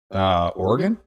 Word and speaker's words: Oregon: If you can pronounce, how do you say the state that I live in? Oregon.